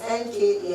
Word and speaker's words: Nka: That Nkea you're seeing is NKA and then space A. Alright? So I just took away the A, the E for easy pronunciation.